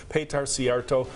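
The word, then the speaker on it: Péter Szijjártó: Again, we want to thank the Hungarian Minister of Foreign Affairs and Trade, Péter Szijjarto.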